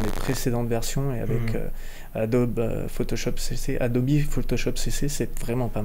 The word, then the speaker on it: Adobe: utilisateurs francophones disent plutôt Adobe. Adobe, ouais. On est français avant tout, donc on a du mal à prononcer le E comme un I, mais ceci dit, en anglais, c'est vraiment le cas.